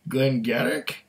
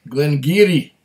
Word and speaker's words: Glen Garioch: Garrick King Glenn Garrick Glenn Garrick no it's Glenn Geary Glenn Gary Glenn Geary that's how they pronounce it after this is Gumby